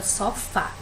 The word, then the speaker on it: sofá: as sílabas das palavras aqui nós temos a palavra sofá qual é a sílaba tônica aqui é o fá né para que o